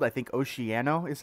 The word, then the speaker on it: Oceano: It's called, I think, Oceano is how you pronounce it.